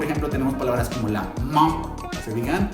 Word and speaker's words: main: Y, por ejemplo, tenemos palabras como la main. ¿Se fijan? Y es muy nasal. No digo man, como en español no es man. Es la man.